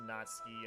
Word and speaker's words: Natsuki: Monica is close enough natsuki is pronounced natsuki and sayori is sayori uh Yu-Gi-Oh is a